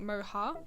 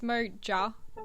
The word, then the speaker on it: Moja: Spanish J sound like moha and it really threw me off I thought I was saying it wrong but it's moja as it's spelled Mo moja but it